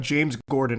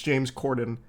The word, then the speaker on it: Corden: His name's not James Gordon. It's James Corden.